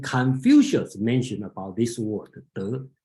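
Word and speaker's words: 德: If you recognize Chinese word called De, okay, the pronunciation is De.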